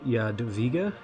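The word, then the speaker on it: Jadwiga: we're playing uh y Yad via Yad via um I think W is pronounced a v in Polish we're going to play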